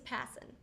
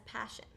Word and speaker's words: Passen: Adventures around the world my last name is passen which is often misspelled and mispronounced as passion but that's okay because